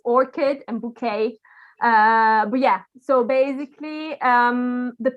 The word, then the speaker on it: bouquet: Bouquet comes from French. The English usually pronounce it like bouquet or something like that.